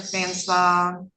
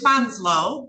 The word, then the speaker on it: Fanslow: So this is, and I know I pronounced it wrong, this is in the matter of the people of the state of Michigan versus, find it, Brian James, and it's Fanslow.